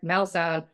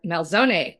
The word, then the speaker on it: Malzone: Eric Melzone or Eric Melzone depending on if you're Italian enough to pronounce his name, but uh he's the